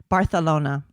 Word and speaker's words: Barcelona: You have to lisp on. Yes, you're supposed to lisp the s. Barcelona.